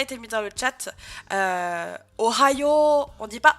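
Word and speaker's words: おはよう: Ohayo, on dit pas Ohayo, on dit Ohayo, Ohayo. Où on va allonger le yo avec un U.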